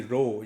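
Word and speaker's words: rho: और उसके बाद लेटर है जी रो, ये जो P की शक्ल में लेटर है इसको प्रोनाउंस करते हैं रो।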